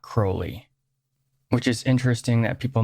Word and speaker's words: Crowley: so black and white the names pronounced differently depending on where someone is in Great Britain and accents change over